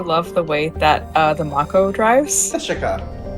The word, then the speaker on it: Mako: It's the Mako, like the shark.